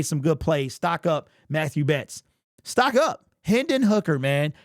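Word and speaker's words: Mathieu Betts: week's game because we didn't hear his name Matthew Betts you might hear mat two other places but it's Matthew that's how you pronounce his name Matthew Betts stock up sacked a quarterback remember I said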